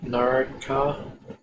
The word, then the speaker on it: Naraka: These Naraka, that's how you pronounce them.